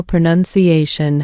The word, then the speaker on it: pronunciation: Feel how pronunciation has 4 syllables with stress on the 4th one, and improves has stress on the 2nd syllable.